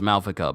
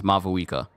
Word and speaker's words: Mavuika: That's the way her name is spelled. I thought it was Malvika, but it's Mavuika.